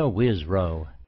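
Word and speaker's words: Wisrough: Wisrow.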